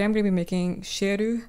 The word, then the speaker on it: Ciel: going to be making sheru because that's how they pronounce the anime so these are the